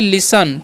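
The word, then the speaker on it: listen: यहां पर जो है टी जो साइलेंट होता है तो इसे हम क्या पढ़ते हैं इसे हम लोग पढ़ते हैं लिसन ठीक है तो लिसन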